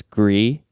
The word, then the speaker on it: Gris: is a game called I assume it's gree because this Gers yes well so gree is gray in French and that's how you spell it and so I it